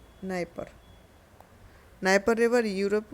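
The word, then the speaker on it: Dnieper: बस डी एन इसमें D silent रहेगा। नाइपर नाइपर रिवर यूरोप की।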